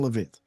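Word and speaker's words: Leavitt: So everybody congratulate beautiful Caroline Levit. You know, do I pronounce that correct? Yes. Caroline Levit.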